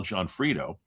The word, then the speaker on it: Gionfriddo: So it sounds like two person's names, J O H N F R I D O or whatever, but or a full name, but it's actually his last name is spelled G I O N F R I D O. Al Johnfredo.